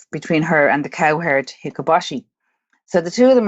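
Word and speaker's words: Hikoboshi: altair is known as i need nick for the prince pronunciation here but it's hikabashi and every year on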